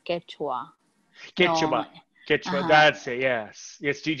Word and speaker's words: Quechua: just came to me quechua do you speak no it's it's actually pronounced quechua that's it yes yes